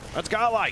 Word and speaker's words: Godlike: He says Godlike, where he kind of omits the D. That's Godlike.